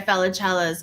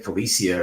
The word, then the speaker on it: Felicella: Go check out Guy Felicella's interview on my Facebook, my YouTube. Is that how you say his name? Yeah. Felicella. I've been like saying Felicia or something.